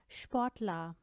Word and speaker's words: Sportler: लेकिन अगर ये वर्ड्स के शुरू में साथ ही फे या ठे के साथ आए तो इस स का साउंड हो जाता है श। Zum Beispiel Sportler, Sportler, Spülmaschine, Spülmaschine, washing